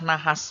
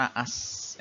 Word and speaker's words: nahas: Yang baku adalah nahas, bukan naas.